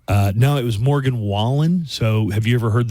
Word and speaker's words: Wallen: uh called him well he mispronounced his name let's hear his Jeff Bridges announces Morgan Wallen but he doesn't say Wallen and the CMA award for Entertainer of the Year goes to Morgan whan Morgan way um police